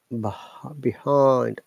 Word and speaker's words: behind: to make it double well behind I which is the same diphthong in the word guy so the word behind has three basic vowel sounds divided into two syllables the first of which contains a monom tungst eh